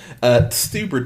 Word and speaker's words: Stuber: Stuber tonight.